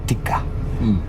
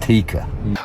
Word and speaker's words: Tikka: It's really Tikka and Burus or I think I've learned to pronounce it. It's Tikka. They say it very quickly. Tikka, not Tika.